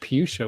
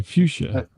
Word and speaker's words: fuchsia: c a I heard I heard puchia with the p oh I'm sorry fuchsia that's me a verb ending